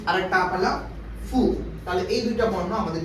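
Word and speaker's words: ふ: হবে একই নিয়ম হাি এখানে হু উচ্চারিত না হয়ে উচ্চারিত হবে ফু হাি ফু তাহলে হাি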